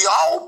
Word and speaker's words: Yahweh: Os judeus que falam assim, o nome é Yahweh porque o ré não tem som.